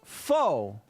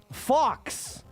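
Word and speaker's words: faux: Technically that's that's a French word. A French word pronounced foe because the French. I pronounced it like I read it. Fox for the longest time until [ __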